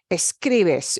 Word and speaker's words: escribes: If you break that up into syllables, it's escribes. Escribes. We don't punch the bes. Escribes. No. Escribes. Second to last. Escribes. The way we say that obeys the stress rule.